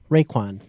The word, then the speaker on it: Raekwon: I'm sorry how do you how do you pronounce McMillan's first name right quad Raekwon so dr.